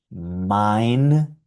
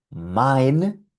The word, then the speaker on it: mein: Eins, mein, drei.